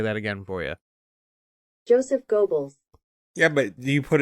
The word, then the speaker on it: Goebbels: says gobbles gobbles yeah it's pronounced g-o-w-b-l-z i could play that again for you joseph goebbels yeah but do you